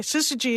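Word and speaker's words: syzygy: just a big deal and so uh and that's spelled s-y-z-y-g-y sister G is just an alignment of celestial objects and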